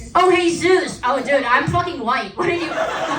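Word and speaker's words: Jesús: It's pronounced Hey Sus. Oh, hey Zeus.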